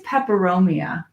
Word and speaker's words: peperomia: pepperoni I think it's peperomia that thing manly yeah I think that's what it's called okay I love don't ask me to spell it it rhymes with pepperoni you just go there